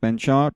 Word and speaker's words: penchant: इसको देखो, दो बोलते हैं, पेंचाट और पेंचेंट, है ना।